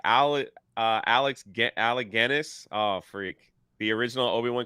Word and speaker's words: Alec Guinness: They should be grateful, like Alec Guinness.